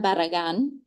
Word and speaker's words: Barragan: The first is Miss Anna Barragan.